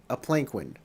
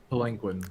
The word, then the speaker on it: palanquin: And they put him in a pelican, a palanquin, however you call that. How do you pronounce that? Palanquin.